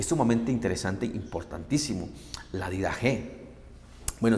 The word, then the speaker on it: Didaché: sumamente interesante importantísimo la vida je bueno se escribe la didaché pero se pronuncia la vida o dicho de otra